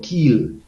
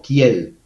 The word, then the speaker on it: Kiel: Pero hay institutos de opinión, institutos de análisis, como el Instituto IFO, el Instituto Kiel o Kiel, se pronuncia Kiel, para la economía mundial, el Instituto Halle para la investigación económica y el Instituto RWI Leibniz.